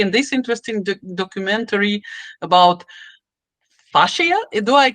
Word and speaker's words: fascia: do Dr K and this interesting documentary about fasia do I pronounce it right f f f f fasha fasha actually F fascia tissue in our body uh so I simply